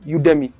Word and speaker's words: Udemy: you'll be for this there's a website called udemy let me just spell it it's u d e m y u